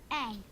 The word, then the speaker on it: Aang: Aang. That rhymes with Meng!